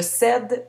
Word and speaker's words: cède: Je cède, tu cèdes, elle cède. Je ne prononce pas le E final, il est muet.